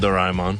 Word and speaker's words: Doraemon: So yeah, they're calling it Doraemon, which is cool. That's closer to the Japanese pronunciation.